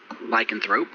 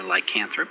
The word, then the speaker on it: lycanthrope: leader in this shape, a wild boar lycanthrope or lycanthrope, depending on your side of the pronunciation.